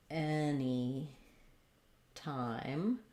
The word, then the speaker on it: anytime: name so anytime um i think we have stress on any and any time any probably secondary stress on time anytime anytime you'd like